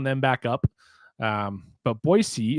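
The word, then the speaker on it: Boise: back up um but boyy is the correct way to say it I've been told and uh yeah we're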